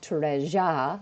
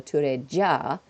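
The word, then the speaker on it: トレジャー: the Japanese accurately, and I'll start to say like treja, which would be closer to treasure, our pronunciation, as opposed to the tureja, which is written.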